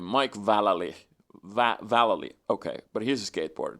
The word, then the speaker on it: Vallely: Vallely, okay, but he's a skateboarder too.